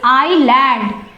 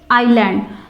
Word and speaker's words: island: Students, in this word S is silent, so don't read it island. This is island. Mostly students do this mistake, so this is island.